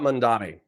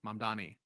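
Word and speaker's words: Mamdani: So yeah, the the sentence about Mandami.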